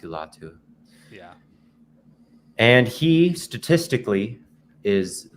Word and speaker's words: Latu: Today we're looking at, how do you pronounce that, Theo? Is it Laiatu? Latu. Latu. Yeah, it's pretty straightforward based on how it's spelled. Latu. Laiatu. Yeah, I guess that is pretty It rhymes. Latu.